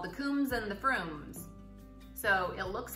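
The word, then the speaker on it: Frome: and then our favorite froome's bishops broom and canon Froome and there's also castle fur right so if you see those words that's how you say the prunes have an O sound and then the combs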